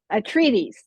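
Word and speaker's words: Atreides: of of Paul um what how do you pronounce the last name uh Paul a treaties a treaties thank you played byes the trades yeah the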